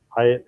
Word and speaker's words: Hiett: Hyatt is spelled H-I-E-T-T. Sounds like the hotel, but spelled differently.